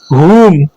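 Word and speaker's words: whom: एच से पहले आने वाला डब्ल्यू साइलेंट होता है, जैसे हु, हुम, हुज।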